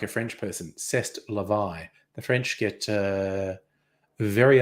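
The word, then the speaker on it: c'est la vie: I should say that like a French person CEST Levi the French get uh very upset if you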